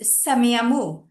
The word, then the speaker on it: Semiahmoo: He's an archaeologist with the, I'm not too sure if I'm pronouncing this one correctly, is it Semiahmoo? Yeah, The that's right. Semiahmoo First Nation.